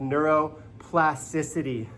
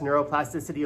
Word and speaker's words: neuroplasticity: on it but it's a six syllable word that I hate to drop on you in the morning but it's science and it's amazing it's called neuro plasticity what is whew neuroplasticity